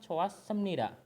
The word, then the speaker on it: 좋았습니다: 슬펐지만 참 좋았습니다. Ini hit akan hilang. Biasa kalau pindah ke vokal dia akan hilang hitnya. Jadi dibacanya 좋았습니다.